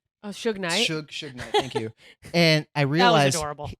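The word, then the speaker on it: Suge Knight: they mentioned su su Knight is that you pronounce his name oh Su Knight su su Knight thank you and I realized he thought the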